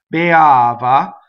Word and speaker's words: beava: Beava. So the accent is on the A, so the E will be closed.